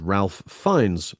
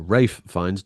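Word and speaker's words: Ralph Fiennes: Harris Dickinson has gone toe-to-toe with Angelina Jolie, Melissant, and Ralph Fines, or Rafe Fines, depending on how badly you pronounce it, in The King's Man.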